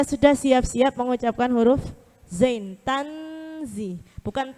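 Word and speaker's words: تنزيل: Sudah siap-siap mengucapkan huruf zain. Tanzi ya. Banyak kan kita bacanya biasanya tangzilan. Enggak ada dengung itu tang. Huruf enggak ada yang NG.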